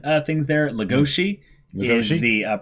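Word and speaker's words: Legosi: you have ourselves a couple pronunciation things there Lugosi the pronunciation for for the wolf all right and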